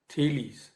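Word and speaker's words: Thales: first philosopher so to say his name was tillys it is p h a l e s but it is pronounced thelies so thelies belong to myelitis and he was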